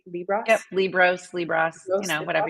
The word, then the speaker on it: Liebross: your last name right libros Ross libros you know whatever you want to say Li Ros I always like to say it rhymes with gross oh that's a good